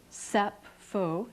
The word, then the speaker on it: Sappho: soil of the poet sappho sap foe in the Greek pronunciation less well-known is this